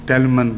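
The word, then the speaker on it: Tallyman: مین ٹیلی می بنانا، یہ ان کا تلفظ میں ہے، ٹیلی مین کو ٹیلمن کہہ کے پڑھتے تھے، کم مسٹر ٹیلی مین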